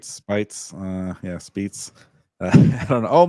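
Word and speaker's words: Speights: So maybe rhymes with 8 Spates.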